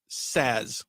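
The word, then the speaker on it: Szasz: Thomas Saz. It's spelled S-Z-A-S-Z.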